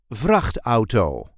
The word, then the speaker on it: vrachtauto: We also use the word VRACHT-AU-TO. VRACHT-AU-TO. The emphasis here is also on the first syllable.